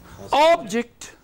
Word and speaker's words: object: If you mean that it is to be used as a noun, it is only stress that will make it an object. There are many objects on the table. Yes? There are many objects on the table. Objects. Which part I am making prominent? First.